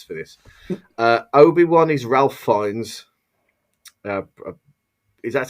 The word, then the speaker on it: Fiennes: Obi-Wan is Ralph Fiennes. Is that how you have to pronounce his name? Isn't it Fiennes? Yeah, Fiennes.